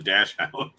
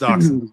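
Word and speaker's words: Dachshund: or I believe they call it a dash house. Dachshun. It's pronounced Dachon.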